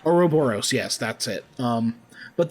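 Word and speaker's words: ouroboros: how do you say that oroboros oroboros yes that's it um but the image the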